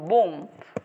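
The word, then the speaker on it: bomb: word নিচের কোনটা silent সেটা হচ্ছে বি এর উচ্চারণ হবে না যেমন বোম বোমের ভিতর যে বিটা আছে এটা উচ্চারণ হয়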